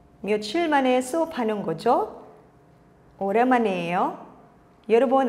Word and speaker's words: 며칠: 표현입니다 그렇다면 여기 있는 며칠은 언제 사용하는지 알아볼까요 사실 며칠은 없는 나누입니다 며칠은 중학에 발음한다면 몇 일이라고 발음이 되어야 하는데요 며칠이야 며칠 뒤에 며칠 동안 모두 우리는 며칠이라고 발음하죠 그래서 모두 며칠로 통일해서